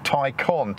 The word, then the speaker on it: Taycan: he was adamant it should be pronounced tai con t-i-e-c-o-n i don't really think it matters does it i mean we know what the car is we know it's an ev made by porsche pronounced something like tycoon anyway i believe it's